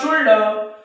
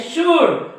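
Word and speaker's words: should: cooled cooled शुल्ड काय म्हणतात ते कुल्ड उल्ड शुल्ड पण हे कुल्ड नाही उल्ड नाही शुल्ड नाही हे आहे कुड काय आहे कुड हे आहे वुड हे आहे शुड म्हणजे या डी च्या अगोदर एल हा काय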